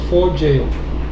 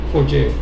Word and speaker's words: Forgejo: So it's for jail for jail.